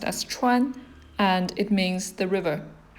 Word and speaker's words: 川: You don't really have to know those characters right now by heart, but this is pronounced as 川, and it means the river.